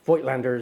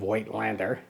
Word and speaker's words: Voigtländer: And of course, Voigtländer is a German name. But of course, we anglicize that by saying Voigtländer. But in German, I do believe it's pronounced something more like Voigtländer.